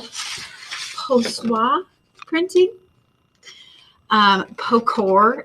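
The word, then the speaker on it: pochoir: called postwar printing um pocor if you're from missouri or just stencil that could be what it is but this is how you say it in french i think i'm saying that right and i think what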